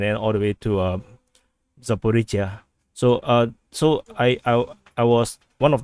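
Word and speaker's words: Zaporizhzhia: It's actually Zaporizhia or Zaporizhia. So like Asia, this is Zaporizhia. So this is Zaporizhia. So from now on I'll pronounce this correctly, Zaporizhia.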